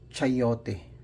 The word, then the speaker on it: chayote: Chayote yung tawag nila dito. So chayote. So that's the way they pronounce it.